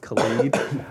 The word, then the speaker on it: Khaled: And and then she goes, it's pronounced Khalid.